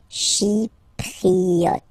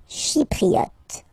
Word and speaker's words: Chypriote: She, remember this Y is pronounced like E. Okay? Chypriote. Chypriote.